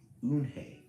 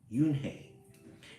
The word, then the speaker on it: Unhei: Yes, it's pronounced Unhei. Yunhei. And it means grace, Mr.